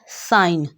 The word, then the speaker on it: sign: लफ्ज़ है साइन, साइन SIGN, इसमें जी साइलेंट है।